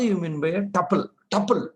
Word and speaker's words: tuple: Tuple. This is called, pronounced it as tuple.